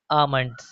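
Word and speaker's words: almond: For example के लिए अमंड। दोस्तों यहां पे ए के बाद एल आया इसलिए एल साइलेंट होगा।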